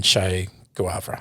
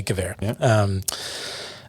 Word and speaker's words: Guevara: the opposing guerrilla forces to help take down shay guava i could never pronounce his name thank you guevara and they they plotted to put a marine